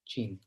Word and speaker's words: Qin: We pronounce Qin, right?